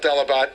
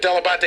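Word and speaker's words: Dell'Abate: himself delebate no my my father always called himself delabot delebate and he said that he just americanized it but della batte is in fact the proper pronunciation so when did your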